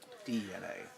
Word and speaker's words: DeNA: It's also DNA is the pronunciation. I know it says Dina, but it's DNA.